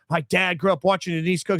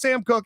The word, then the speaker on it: Cooke: I'm like, okay, well, the one Coke that I fucking know, it's pronounced Cook, and it's Sam Cooke, and it's a famous punter for the Ravens.